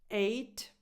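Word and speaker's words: eight: No H sound, because a lot of people place an H sound at the beginning of this number, and that would sound like hate, which is a completely different word. 8. So no air before the vowel.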